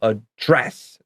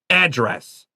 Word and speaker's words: address: So I say this word like Canadians do, to address, D-R-G-N-J. I checked a few dictionaries because I didn't believe this. I see a lot of Americans say it as to address. Okay, maybe you'll hear that. I don't say it that way, but that's what the dictionary says, so I believe him.